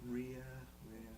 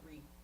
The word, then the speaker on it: Rea: I speak a little bit of Spanish, so I try to pronounce it the right way. But she's used to hear it all sorts of different ways. As long as it's not Ree. I think Ria, she's fine.